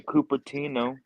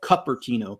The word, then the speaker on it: Cupertino: we lived there, because they would call it Cupertino because it's spelled Cupertino. And it used to crack me up because they also call it San Jose instead of San Jose.